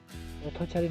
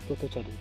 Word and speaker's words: পথচারী: যেমন উদাহরণস্বরূপ বলা যায় পথচারী। এখানে আমরা পথচারী না বলে বলি পথচারী। অ এর উচ্চারণ উ এর মতো উচ্চারিত করি।